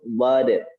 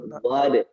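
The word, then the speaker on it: ضاد: Selanjutnya adalah pelafalan makhraj huruf dhad. Apa namanya hurufnya? Huruf dhad. Bukan huruf dha. Bukan huruf dha. Misalnya nih Bu Dery nih, Eza nanya, "Mah, ini huruf apa?" Huruf dha, jangan ya, tapi huruf dhad.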